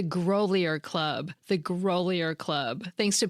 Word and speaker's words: Grolier Club: I had only ever read the name of the fancy private library in New York that I love. I'd never heard it pronounced out loud. It's the Grolier Club.